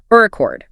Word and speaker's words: record: The go-to example is recordord stress on the first syllable which is a noun like a vinyl record right versus record stress on the second syllable which is a verb meaning to record something.